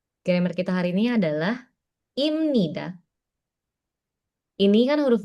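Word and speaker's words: 입니다: Contohnya kalau aku bacanya kayak gini doang, maka bacanya ibnida. Hm. Ibnida. Tapi kalau misalkan aku sesuai aturan, dia kan dibacanya M nih. Heeh. Heeh. Maka imnida. Imnida. Beda kan? Nida sama imnida. He. Nah, makanya dibacanya imnida ya.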